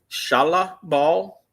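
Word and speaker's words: Shalla-Bal: The female silver surfer, I cannot pronounce it. Shala Ball. What is it? Shala Ball. Shalah Ball.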